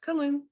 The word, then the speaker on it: Killeen: It is located, and I always mispronounce this. Is it Killeen? Yep, Colleen.